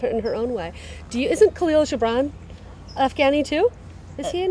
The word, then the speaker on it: Khalil Gibran: Khalil Gibran. Khalil Gibran. Oh, sorry, I didn't. Khalil Gibran. She had to say Khalil Gibran.